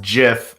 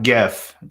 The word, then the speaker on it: GIF: by the way y'all it's pronounced jif not gif true or false i'm